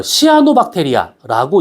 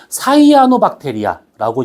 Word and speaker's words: 사이아노박테리아: 어, 내가 이거를 공부할 때는 어, 시아노박테리아라고 이렇게 명명을 했었는데 발음했는데 지금은 사이아노박테리아라고 이제 표현을 합니다.